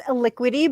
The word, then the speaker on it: Elikqitie: thank you jonathan for having and actually it's a liquidy but i do i like the way you pronounce it better it has like a very